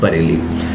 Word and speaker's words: Bareilly: लेकिन जो standard pronunciation है बोलो उसको वैसा ही। तो यहाँ पर बरेली तुम्हें क्या समझ में आ रहा है, बरेली, तो तुम्हें समझ में आ गया कि बरेली की स्पेलिंग है BAREILLY, ठीक है, लेकिन बोलो बरेली।